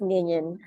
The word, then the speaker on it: Nillion: computation Network off of the ground what is minion and it is spelled n i l l i o n